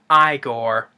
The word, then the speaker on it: Igor: Frederick I see here USP Igor nice pronounced I gore but the Saudi Reger